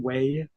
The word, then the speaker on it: whey: Whey, it's spelled WHEY.